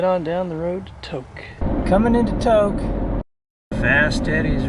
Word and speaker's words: Tok: Even though it's spelled T-O-K, it's pronounced Tok.